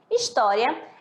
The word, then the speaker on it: História: História é acentuada porque é uma palavra paroxítona, penúltima sílaba tônica, o ks, que termina com ditongo oral, ditongo pronunciado em timbre aberto.